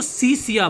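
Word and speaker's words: Hsia: Were ruled by द हसिया people. तो चाइना जो 3 पार्ट्स में डिवाइड था, एक तो था उत्तर पश्चिमी प्रांतों का जो हसिया, इसमें है क्या है यानी एच साइलेंट है, इसको सिया बोलोगे।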